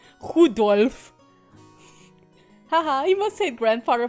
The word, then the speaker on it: Rudolf: Anyway, this guy's name is pronounced Rudolph. Rudolph.